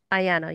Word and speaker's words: Ayana: Yeah, is that how you say it? Ayana, yeah. Ayana, yeah, Ayana, sorry.